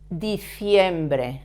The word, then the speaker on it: diciembre: The month of December in Spanish is diciembre. Again, the C with an I.